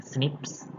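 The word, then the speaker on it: SNP: single maglev polymorphism ini atau kita dibacanya sebenarnya snips snaps merupakan alasan utama terjadinya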